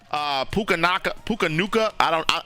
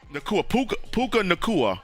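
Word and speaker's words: Puka Nacua: Puka Nuka.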